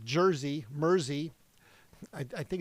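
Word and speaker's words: Mersey: Mercy beat like Jersey Murzy. I I think it's pronounced Murzy because it's spelled like New Jersey. M E R S E Y. So I'm gonna say it's Jersey. Murzy.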